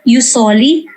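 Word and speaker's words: jus soli: or in juice only use or uh proper pronunciation and j-u-s is used usoli or use sanginis or jure sanginis uh you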